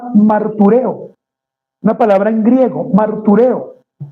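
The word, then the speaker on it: μαρτυρέω: una palabra en griego, martureo. Lleva tilde en la E, tal como suena, martureo, que puede usarse según el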